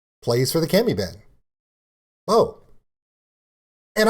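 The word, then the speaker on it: BOH: Bo. And I actually said Bo's name wrong, and I called him Doe for almost a month, and they made fun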